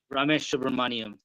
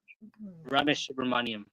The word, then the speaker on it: Ramesh Subramaniam: Ramesh Subramaniam. That's how you say it. Okay, thank you. Ramesh Subramaniam.